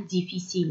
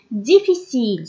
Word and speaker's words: difficile: Difficile, son contraire, c'est facile. Kif kif, on dit difficile, facile. On écrit le E, mais on ne le prononce pas.